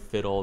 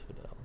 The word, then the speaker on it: Fidel: If he wants to change the spelling of Fiddle, then that's fine. But as long as it's spelled Fidel, I'm saying it as Fidel.